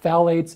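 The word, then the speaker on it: phthalates: appearance here so yeah phalates also a silent PE like pterodactyl but a ton of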